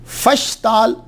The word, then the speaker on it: फशताल: अब बहुत बड़े वली अल्लाह थे, ये फशताल क्या, ये असल में प्रोनाउंसिएशन जो है फशताल और फिशताल है, फुश नहीं है।